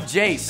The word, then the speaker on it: Jace: uh jace rhymes with ace uh cooper is weird